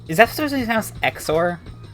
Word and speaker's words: XOR: that's just the house xor i always just pronounce the x's as a z because that's what x does at the beginning of words you could also say